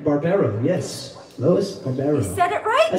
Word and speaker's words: Barbero: Lisa Shipp, Lois Barbero, right? Barbero, yes.